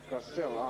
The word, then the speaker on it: Kassel: Костел, ударение на последнем ходе.